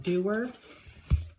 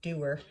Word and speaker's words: Dewar: Anyway, this is the Dewar, or it's actually pronounced Dewar, but I just like saying Dewar better. So, but yeah, the actual pronunciation is Dewar. D-E-W-A-R.